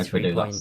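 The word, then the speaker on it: Agbadou: Yeah, Agbadu, that's how you say it.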